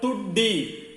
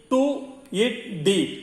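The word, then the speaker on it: ठुड्डी: This chin is called tuddi. Tu-it-di. Tuddi. Tuddi means chin.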